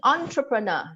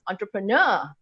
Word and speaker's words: entrepreneur: I out of her I'm an entrepreneur now that oh that's not right entrepreneur you know it's a French word so the stress is on nur entrepreneur now that always